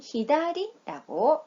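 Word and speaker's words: 左: 좌라는 소리는 사, 그 다음에 왼쪽이라는 뜻은 히다리라고 읽습니다.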